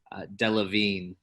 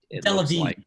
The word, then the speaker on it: Delevingne: Ali, by the way, is coming to our rescue on pronunciation. Delevingne. Delevingne. Okay, Delevingne.